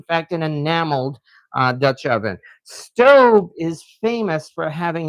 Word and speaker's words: Staub: It is, in fact, pronounced stove. I got that directly from their website where I heard them pronouncing it. So even though a lot of people call it staub, it is, in fact,